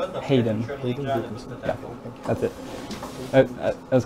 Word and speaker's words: Hayden Wilkinson: Check my pronunciation. Hayden. Hayden Wilkinson.